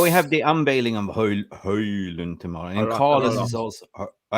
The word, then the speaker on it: Højlund: No, it's no D at the end. Højlund.